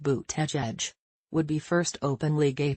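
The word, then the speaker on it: Buttigieg: of Notre Dame academics surname is pronounced boot edge would be first openly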